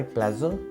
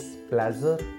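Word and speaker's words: pleasure: इट्स माई प्लेजर, pronunciation को notice करना, this is प्लेजर नॉट प्लीजर, प्लेजर, केवल प्लेजर।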